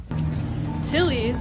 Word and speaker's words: Tilly's: Tilly's, it rhymes with Killies.